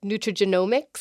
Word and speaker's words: nutrigenomics: So another term I've heard, and I hope I don't pronounce this one wrong, is nutrigenomics.